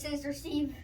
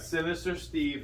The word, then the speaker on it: Sinister Steve: C's from Home Depot I know I said his name wrong I said sister Steve wait what okay are you excited daddy yes we got Sinister Steve here brand new clown